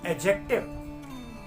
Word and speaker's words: adjective: Drop करना है और हम इस तरीके के प्रोनाउंसिएशंस का यूज करेंगे: एडजेक्टिव, एडजॉर्न, एडजेसेंट।